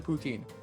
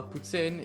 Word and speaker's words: poutine: you might pronounce it poutine but okay i've heard what is after i've i've never had it so uh putin is first off how we pronounce it i know right each